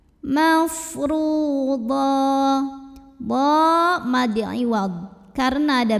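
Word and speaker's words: مَفْرُوضًا: Huruf ra dibunyikan secara tafkhim karena barisnya di atas, maka bacanya tebal, pangkal lidah angkat. Mafru. Ru mad tabi'i karena ada waw sukun yang didahului baris dhammah. Cara bacanya dipanjangkan, ra-nya 2 harokat.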